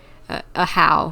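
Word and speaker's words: Ajaw: a nuisance thank you a how that's how we pronounce his name wait isn't that a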